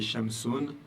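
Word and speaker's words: شمسٌ: Eh bien, un soleil, ça se dit shamsun. Vous n'avez pas d'autre mot. Comment je sais que je dis un soleil, je parle d'une chose qui est indéfinie? Eh bien, j'ai l'accent ici, encore une fois, dammatan, qui m'indique que c'est indéfini.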